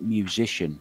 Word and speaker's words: Juszczyszyn: he said um well if you imagine it just rhymes with musician basically and the first match